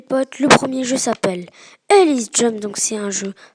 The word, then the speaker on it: Helix: Le jeu, donc je le rappelle, s'appelle Ellis Jump. Donc ça s'écrit H-E-L-I-X et Jump, donc comme dans mon nom, Jump Gamer.